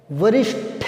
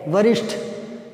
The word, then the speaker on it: वरिष्ठ: वरिष्ठ होता है, ठे, वरिष्ठ।